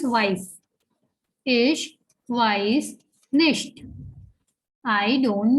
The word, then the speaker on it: weiß: Here in weiß, we are having a ligature at the end. This is the ligature, which looks like the beta sign in mathematics, and it has the sound of double S. Okay, so it becomes weiß.